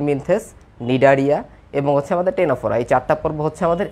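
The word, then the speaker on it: Ctenophora: ওকে, টেনোফোরা বানানটা একটু অদ্ভুত তাই না? এটা ফার্স্টে সি আছে, একটু কিছু মনে রাখবা।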